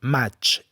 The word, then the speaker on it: maig: També és important saber que TX i IG en fi de mot se pronuncien de la mateixa manera com maig i dutxa.